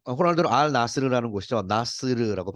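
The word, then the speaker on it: Al Nassr: 자, 크리스티아노 호날두의 알 나스리, 호날두는 알 나스르라는 곳이죠. 나스르라고 발음하는 컨트랙트.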